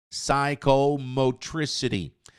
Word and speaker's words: psychomotricity: Se a língua, a fala é uma habilidade psicomotora, de psicomotricidade, p, esse P aqui não é pronunciado, tá, meus queridos? Psychomotricity. Psychomotricity skill.